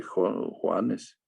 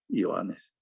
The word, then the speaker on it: Johannes: Johannes, no se dice Juanes, Johannes.